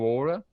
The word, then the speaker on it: Oura: O primeiro é o Oura, né?